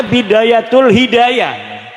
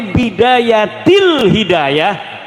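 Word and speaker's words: Bidayat al-Hidayah: Karena deke maca Bidayatul Hidayah. Harus sebah dibacanya Bidayatil Hidayah karena anak huruf jerbe.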